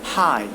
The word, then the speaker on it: high: High, that means GH is silent.